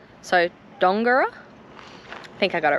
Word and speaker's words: Dongara: But thank you for everyone who commented on Instagram and said you pronounce it like Longara, so Dongara.